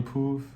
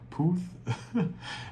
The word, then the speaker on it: Puth: Yeah, Charlie Poof. Poof. That's how you say his name. And I think it's Selena Gomez. Yeah, with Selena Gomez. Charlie Puth.